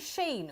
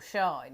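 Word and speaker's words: Shein: Is it Sheen or Shine? Who pronounces it Shine? Sheen, I think.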